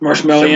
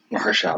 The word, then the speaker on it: Mahershala: Mahershala. That's his name. I'm just gonna say it correct one time.